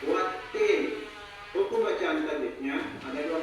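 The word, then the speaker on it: وَالتِّين: Wattin. Hukum bacaan tajwidnya ada dua macam. Pertama, alif lam samsiah. Karena huruf lam bertemu ta, cara bacanya idgham atau masuk ke huruf ta.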